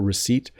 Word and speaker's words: receipt: receipt here is a receipt from Walmart I think this person bought a printer um there's a silent p in this letter receipt the receipt is the small